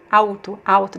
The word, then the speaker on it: alto: But here, hotel, alto. There's no vowel after it, so you don't pronounce the L sound.